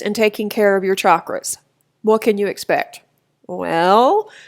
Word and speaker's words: chakra: and some people say Shakra and that's fine too either way is fine we're not the grammar police obviously so whichever way makes the most sense to you it's actually a Sanskrit word and it literally translates